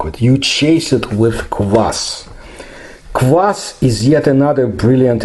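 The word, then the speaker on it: квас: my use my youth class that's how we pronounce it was sold in the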